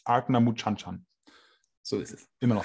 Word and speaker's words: Ardnamurchan: Für die korrekte Aussprache bitte das Video anschauen. Das ist natürlich nicht richtig, wie Leon das sagt. Genau. Die richtige Aussprache laut Paddy ist Ardna Muchanchan.